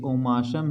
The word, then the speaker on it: omasum: ये ओमाशम है, ये अबोमाशम है और ये रेटिकुलम है और ये रूमेन, तो आप समझ ही रहे हैं।